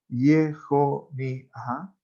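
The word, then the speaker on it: יכניה: Muy bien, que había sido deportado ayer Hogla de Jerusalén, de Jerusalén, de los cautivos que habían sido llevados con Yehoníah, así lo pronunciamos en hebreo, rey de Yehudá, a quienes había llevado Nabucodonosor, Nebuchadnezzar, rey de Babilonia, rey de Babel.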